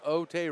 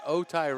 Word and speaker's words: Otay: of the fingertips of OT Ranch excuse me otai Ranch got a little lazy in my pronunciation 5450 is our score